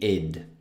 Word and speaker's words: it'd: cioè it would, che abbiamo visto qui sopra, questa parola qui, si legge come se la T non ci fosse, quindi id.